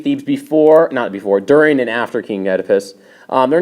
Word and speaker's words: Oedipus: It is pronounced Oedipus. The O is silent.